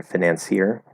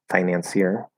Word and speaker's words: financier: because finance switches um and then financier financier financier financier they both work so that one would